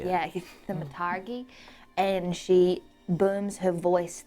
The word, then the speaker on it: thaumaturgy: Yeah, thaumaturgy.